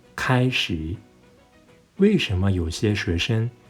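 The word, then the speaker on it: 开始: Not かいしー, but kaishi.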